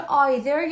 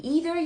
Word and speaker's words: either: اینجا either یا میتونی بگی either یا either. It doesn't matter. ربطی هم به تلفظ اینا هم نداره. Pronunciation جفتش درسته.